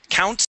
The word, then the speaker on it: count: put them in okay give me a t at the end of count count them as I put